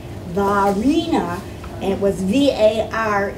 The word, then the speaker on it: Varina: but it's kind of when they pronounced it it was like French name valina and it was VAR